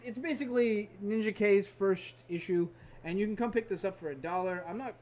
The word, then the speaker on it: Ninjak: I don't know if it's Ninjak or Ninja K. Everyone I've talked to said Ninjak. I've always pronounced it Ninjak, but technically there was a Ninja A, a Ninja B, Ninjab.